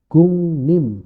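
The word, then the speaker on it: 국립: n juga di sini gukrim tulisannya Jadinya gungnim nah ini dua-duanya berubah nih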